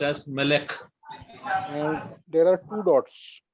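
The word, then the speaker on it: מלך: So only the consonant will be pronounced. Melek.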